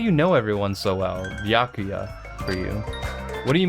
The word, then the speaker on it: Byakuya: Byakuya. I assume that's how you pronounce it. Introduction? Come on, Hajime. You're not gonna have the voice actor, like, confirm it for me? My name is Byakuya.